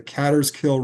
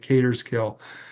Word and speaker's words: Catterskill: Up in the far northern Catskills, this is Greene County, New York, you'll find the Catterskill Rail Trail, some pronounce it Caterskill.